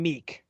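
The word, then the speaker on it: Miek: next one's name I I called him Meek yeah that's what I always called him and that's what Thor and cor call him in Ragnarok and love and thunder so Meek a one cost one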